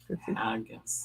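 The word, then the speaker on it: haggis: Am I pronouncing it right? Haggus or Hegus? Haggus.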